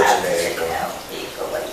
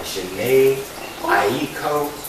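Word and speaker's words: Jhené Aiko: I like Janae Echo. Especially if you go to sleep high. And I'll be irritated when people mispronounce her name because it ain't that damn. They're like Janae Aiko, bitch. Janae echo.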